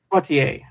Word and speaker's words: Poitier: Poitier, yeah.